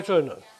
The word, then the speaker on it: Övertorneå: Right, so number 1, in Sweden, who's going to tell me how to pronounce that properly? Oh, Övertorneå.